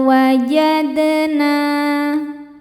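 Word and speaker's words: وَجَدْنَا: Fama wajadna. Wajad. Huruf dal hukumnya qalqalah sughra karena dalnya sudah sukun dari asalnya dan berada di tengah bacaan. Cara bacanya dipantulkan dengan pantulan yang kecil.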